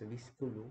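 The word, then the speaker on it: Wiskunde: wi or or Centrum wik pronounce as visku meaning the Mathematics no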